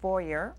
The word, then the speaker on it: Voyer: I'd like to introduce you from left to right in the red, Voyer, rhymes with lawyer.